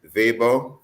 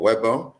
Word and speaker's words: Weber: this story by Ashley vber or Weber however you pronounce it I think in German they pronounce the W as a v it's in the publication